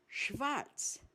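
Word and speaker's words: schwarz: This combination of consonants is pronounced as shh just like the initial sound of the English word shower.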